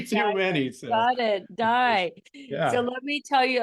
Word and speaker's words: Dai: Rebecca and I know sometimes it's pronounced day but sometimes it's also pronounced die so with a Welsh pronunciation but no you're you're